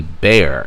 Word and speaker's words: Bexar: This is the Bear, and that is the correct pronunciation of the product. If you are native of Texas, you know the X is silent, and you say bear a little fancy and say bear.